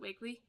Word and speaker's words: Wakley: Next we have the Dina Wakley, no, is it Wakley? Yeah. Oh, okay. I thought I pronounced it wrong for a second.